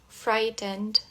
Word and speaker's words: frightened: To frighten, frightened, frightening. Perceba que esse GH aqui é mudo, tá? A gente pula aqui do fry pro ten. To frighten, frightened, frightening.